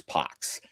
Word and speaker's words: Pax: You're pronouncing Pax the way it's actually pronounced, which is Pox.